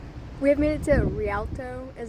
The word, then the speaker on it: Rialto: We have made it to Rialto, is how I think it's pronounced, beach.